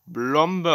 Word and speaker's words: Plombe: Die Blombe wird Plombe geschrieben. Man spricht es zwar Blombe aus, aber es wird Plombe geschrieben.